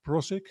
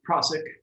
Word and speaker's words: Prossick: painter and artist prossik i hope i'm pronouncing your name right uh welcome to the photos it's prasic it's close not available a big